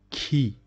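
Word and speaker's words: qui: pronunciation of K so key these these two letters is it is pronounced K and this one e so key key means who k don't say is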